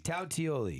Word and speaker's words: Tautoli: Tautoli. Tautioli. Yes. It's like an E in there.